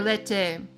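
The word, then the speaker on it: Lethe: Greece um the river lee if you pronounce it in like the ancient Greek pronunciation because it's uh it's the river of forgetfulness.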